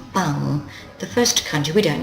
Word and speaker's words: 番: word for police box so it's pronounced bang the first country we